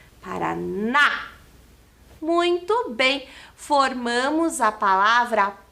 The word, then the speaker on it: Paraná: O N e a letra A com o acento agudo que faz esse som mais forte do A. Paraná.